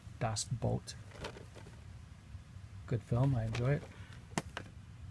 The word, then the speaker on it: Das Boot: lot of people mispronounce it and call it Das Boots but it's actually pronounced dos Bolt good film I enjoy it is a Beowulf